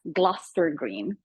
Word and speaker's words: Gloucester Green: It is that stop you wanted, but it's pronounced Gloucester Green.